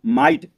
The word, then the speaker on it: might: दोस्तों फिर देखिए MIGHT माइट, क्योंकि GH इसमें साइलेंट दिया गया है और इसको हम माइट पढ़ते हैं।